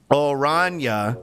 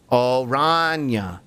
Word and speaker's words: Oranje: Oranje is how orange is pronounced. That is the name of the Dutch royal family. Oranje.